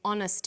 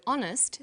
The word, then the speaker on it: honest: happy man but an honest man the H is not pronounced so honest sounds like it starts